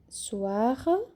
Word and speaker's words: soir: Un soir, uma noite. Le soir, a noite. Soir, a gente fala o R e o O bem sutil, bem rápido, bem suave, quase não pronunciado.